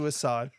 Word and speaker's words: Assaad: It's pronounced Assaad in Arabic, Okay. but nobody can pronounce it right, so I'm just getting used to Assaad.